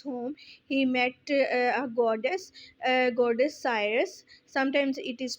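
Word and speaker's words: Circe: On his way back to his home, he met a goddess Cyrus. Sometimes it is pronounced as Kirki. So you can pronounce it is Cyrus, goddess Cyrus.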